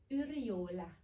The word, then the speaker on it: Yrjölä: So it's Yrjölä. Is it correctly pronounced?